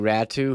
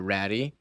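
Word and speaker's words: Räty: okay and um attu ratu who I learned that's how it's pronounced it's not pronounced uh ratty uh to add to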